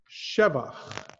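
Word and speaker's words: שבח: However, here, al shevach ma'aseh yadecha. Shevach. There are a handful of types of words that you emphasize the first syllable and not the second to last or the last syllable.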